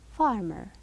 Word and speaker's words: farmer: Here, the ER, if you want to pronounce it, you will come with a low sound. It's not loud, it is low. Farmer. The far is louder than the ER.